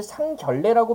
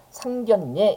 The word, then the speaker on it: 상견례: 자이 들어볼게요 우리 얘를 상결례라고 발음하는 경우는 없을 거예요 상견례 이렇게 발음하게 되는데 어떻게 되는 겁니까 우리 상견이라고 해가지고요 서로 본다는 의미의 니은 받침으로 끝나는 이음절 한자 뒤에 ㄹ로 시작하는 한자가 결합했잖아요 그러면 이럴 때는 이럴